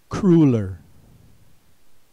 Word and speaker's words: crueler: Next word, crueler. Note the oo sound is spelled with the letter U.